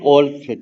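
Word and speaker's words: Wolfe: तो ओल्फ, ठीक है, इसको ओल्फ कहा जाता है, ई का उच्चारण नहीं होता है।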